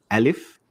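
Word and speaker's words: ألف: of this group alif now Al if is pronounced exactly in the same way you pronounced a in English so a sound as in the word cat cat so Al if is a and these are the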